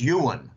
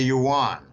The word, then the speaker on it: yuan: background and they say jim the pronunciation is yuan okay a lot of americans call it the yuan i prefer just calling